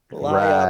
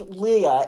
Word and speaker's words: Leah: liar, Laya, rad. pants on Liar. fire. I don't know if it's pronounced like that.